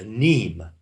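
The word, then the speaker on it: mneme: A neme is spelled M-N-E-M-E. A neme. It's pronounced neme.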